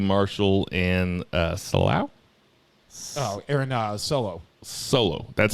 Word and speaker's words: Solo: Solo.